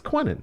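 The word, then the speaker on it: Queenan: there it is queening it's quennan but it's spelled Queen yeah but it's bastard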